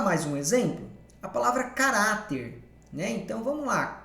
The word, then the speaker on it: caráter: A palavra caráter, né? Então vamos lá. Caráter é paroxítona, a penúltima sílaba é forte.